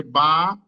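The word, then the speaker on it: باء: হ্যাঁ, তো এখানে ঠোঁটের সাথে সম্পৃক্ত ঠোঁট অর্থাৎ মানে সাফাবি, অর্থাৎ আমাদের যে ঠোঁট থেকে যে দুটো অক্ষর উচ্চারণ হয় সেই দুটো হচ্ছে মিম, আপনার হচ্ছে বা, ফা, এগুলো।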